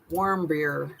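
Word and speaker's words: Warmbier: what's the guy's name warbear um War beer is how you say the last name they were from Wyoming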